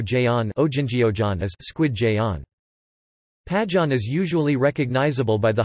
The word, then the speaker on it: Pajeon: Pajeon, Pajeon Korean pronunciation, P-A-D-N, is a variety of jeon with scallion as its prominent ingredient, as pa means scallion.